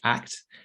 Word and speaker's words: ACT: it interesting but act act is pronounced act it stands for acceptance